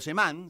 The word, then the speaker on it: Semán: Sí, la la pronunciación correcta es semán con acento en la A.